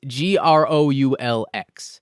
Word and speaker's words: Groulx: him, played by Adrian Gruel, or I'm not sure how to pronounce that name. I am so sorry, Adrian. I was trying to look it up. It's Groulx. The X really gets you.